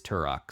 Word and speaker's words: Turok: you know man uh thor pronounced turok turo on the last episode and i ended up winning that debate because it is turok so i'm just saying